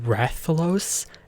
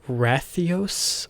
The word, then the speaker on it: Rathalos: editor side note um i keep mispronouncing the rathalos as wrathios or whatever so for those the